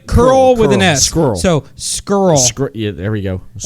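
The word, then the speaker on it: Scurll: I can occur all skirl skirl scroll yeah it's nice it's a curl just go with an S oh so like you're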